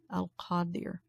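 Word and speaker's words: Al-Qadir: for this session is al khadir and that's spelled the transliteration with a q a d i r paw dear because the is a little bit farther back in the throat deer al qaddir which is the powerful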